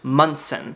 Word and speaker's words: Monson: My name is spelled M O N S O N, but it is pronounced Mson.